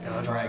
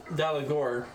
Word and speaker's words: Dalagor: Is Dalgar around? Dragonborn. What? Is Dalgar around? No, there is no Dalagar. Dalagor. Dalagor. Dalagor.